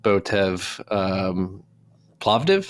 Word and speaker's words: Botev Plovdiv: I think what you're doing in Bulgaria with Botev Plovdiv, is that how you pronounce it?